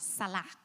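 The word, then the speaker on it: סלח: El perdón Forgiveness es la palabra H5545 is the word H5545, y se pronuncia and it is pronounced Salah.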